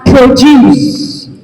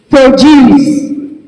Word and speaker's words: produce: We have different ways to pronounce this. We have it as produce. Produce.